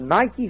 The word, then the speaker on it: Nike: to him that overcomes the word overcome in the greek language is nikkei we use it today we pronounce it nike we've got a whole line of athletic wear you know it just means conquer in greek boy where are these